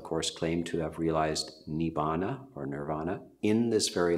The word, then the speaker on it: Nibbana: for that would be Nirvana or Nibbana I am from the Terra bada tradition the early suta's and the word which is commonly pronounced nirvana in Sanskrit is pronounced Nibbana so we use that